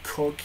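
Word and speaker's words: Coke: as I said Edward cook and and William Wade Edward cooked at the time and his name was spelled Co ke but it's pronounced Cook was the Attorney General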